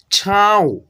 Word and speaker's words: छाँव: शब्दों को, तो दोस्तों मेरे नाक से यानी कि जो है ना इस बिंदु का उच्चारण होगा। ठीक है, जिस अक्षर पे लगा रहेगा उस अक्षर के साथ में नौ का ही उच्चारण होगा, लेकिन नाक के यानी कि रूप से होगा।